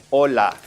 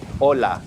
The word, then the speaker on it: hola: We would simply say hola. We don't pronounce the H whatsoever. So, we just simply say hola.